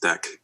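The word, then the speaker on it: deque: By the way, double-ended Q is pronounced deck. Oh, it's deck? So I've heard people say deek.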